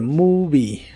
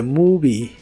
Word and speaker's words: movie: que significan la película la letra o o se pronuncia como u en esta palabra the movie The Movie y usaremos las palabras